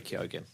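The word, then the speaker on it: Keoghan: I don't know him some people say it without the G but he was like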